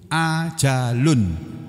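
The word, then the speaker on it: أَجَلٌ: Ajal dalam bahasa Indonesia itu ngambil dari bahasa Arab, dari kata ajalun, tulisannya ajalun, alif fathah, jim fathah, lam dhammatain. Itu ajalun, ajal membacanya. Itu sudah jadi bahasa Indonesia.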